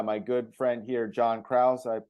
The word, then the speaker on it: Krause: joined with by my good friend here John Krause I pronounce the last name correct you got it